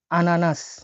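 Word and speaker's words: ананас: আনারসের রাশিয়ান হচ্ছে খুবই সহজ, আনানাস। আনারসকে বলা হয় আনানাস, দেখছেন মিল আছে, আনারস আনানাস মিল আছে কিন্তু বাংলার সাথে। তো আমি ভেঙে দিচ্ছি, এটা AN, এইচটা উচ্চারণ হয়ে থাকে এন এর মতো, ন।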